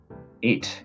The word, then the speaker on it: ait: Eight, it's how it's pronounced, and it's British for a little island.